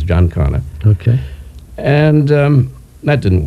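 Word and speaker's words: Giancana: do in Castro unsuccessfully you said Jan Cano or Jan Cano oh in Italian it's Jan kanana I hear other variations of it but the correct thing is John Conor okay and um that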